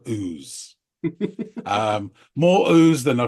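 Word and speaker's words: Ouse: I mentioned this because it is spelled o u e and that's what we got throughout this song a veritable River of ooze um more ooze than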